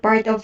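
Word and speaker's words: を: affected by the event note that this particle is pronounced as o and i've never so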